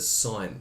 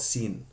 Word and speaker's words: sine: okay sign okay so we pronounce that sign not sin okay so some people